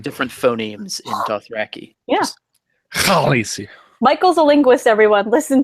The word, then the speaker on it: Khaleesi: Khaleesi. Like k and h Get some are phlegm going. different phonemes in Dothraki. Yeah. Khaleesi.